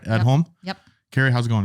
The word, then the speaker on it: Edholm: That's how you pronounce the last name, right? Edholm?